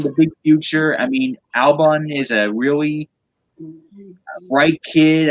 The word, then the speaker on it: Albon: Did I pronounce it right? Yeah, Alexander Albon. Albon.